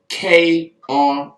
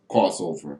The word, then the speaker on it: Krozover: I kind of learned that the hard way, mispronouncing it a little bit earlier on the show. So I'll get my spelling bee on real quick and spell it for the people. They spelled it Krozover. So I guess the Z caught me off guard.